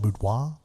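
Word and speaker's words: Boudinot: number nine Elias boudoir b-o-u-d-i-n-o-t I'm going to pronounce that boudoir uh number 10 Thomas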